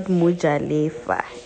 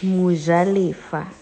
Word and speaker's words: Mojalefa: And it's not Mojalefa, it's Mojalefa.